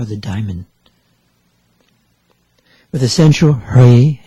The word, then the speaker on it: Hri: With the central Hri, H-R-I, Hri, Hri, ablaze with light, that's the seed syllable.